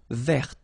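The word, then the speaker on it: verte: rou remember rou ver so masculine form don't pronounce the final T ver feminine form ver so listen carefully I don't say t but it's t ver ver okay so as usual this final only gives you the possibility to pronounce this T ver okay Mar same thing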